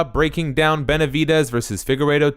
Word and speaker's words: Figueiredo: Yeah, I mean, it's too bad that how do you say Figueiredo? Perfect. It's too bad Figueiredo missed weight on their first fight because it